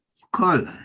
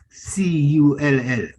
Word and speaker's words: scull: Say the word again. Skull. Scholar. Like for pronunciation purpose, SCULL.